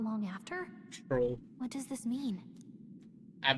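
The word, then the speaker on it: Strohl: Stroll. What does this mean? I've been saying his name wrong this whole time. Wait, I've been saying Straw.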